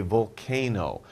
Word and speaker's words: volcano: Of course, we're talking about a volcano. Volcano. We don't really pronounce the L. You don't say volcano. You say volcano.